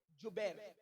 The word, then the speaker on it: جبیر: اس درے پر 50 صحابہ کو عبداللہ ابن زبیر نہیں بلکہ جبیر, جیم سے جبیر.